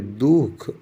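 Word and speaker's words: दुःख: हिंदी में जैसे ये दुख लिखते हैं लिखते तो हैं लेकिन उच्चारण नहीं करते। दुख, तो दुख हो गया।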